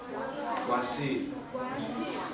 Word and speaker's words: Guanxi: Sorry if my pronunciation is. What? How do you say it? Guanxi. Relationships. We don't have tones in English, okay?